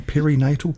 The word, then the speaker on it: perinatal: Is it PeriNatal? Have I pronounced that right, Erin? PeriNatal? Yep, PeriNatal. PeriNatal. PeriNatal, Yeah.